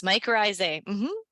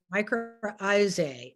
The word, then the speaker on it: mycorrhizae: So Ruth specializes in mycorrhizae. Did I pronounce that correct, Ruth? Yes, mycorrhizae. Mycorrhizae and beneficial fungi for the offices of Fungi Perfecti.